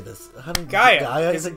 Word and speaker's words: Gaia: Gaia. Is it Gaia? It's Gaia. Right. What on Gaia? There's like six ways to write it, but you pronounce that Gaia.